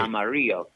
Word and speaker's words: Amarillo: Well, in Spanish, the double L is pronounced as a Y sound, so right. Amarillo.